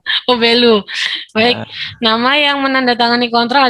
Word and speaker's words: Belu: Belu apa Belu ya Pak bacanya? Belu. Oh Belu.